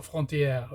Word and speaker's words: Frontière: Then at number 9, we have the other French film that came out the same year, Frontier, so Frontière, if you want to pronounce it in French.